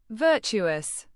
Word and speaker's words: virtuous: Virtuous. Pronounce it as virtue as It means having or showing high moral standards and goodness.